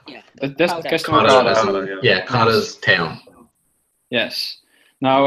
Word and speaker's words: Castorocauda: Castorocauda, I think is pronounced. Castrocauda. Yeah. That's Castorocauda.